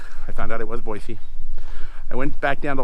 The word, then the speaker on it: Boise: And yes, it's pronounced Boise, not Boise. I was wrong at first. I found out it was Boise.